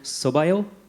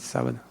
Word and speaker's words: sábado: And I just wanted to return the favor by saying, Boa sorte no sobaio. Did I say it correctly? Boa sorte, sábado.